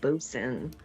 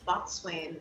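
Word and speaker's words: boatswain: loved the word boson because it's boat swain but it said bosun you know i never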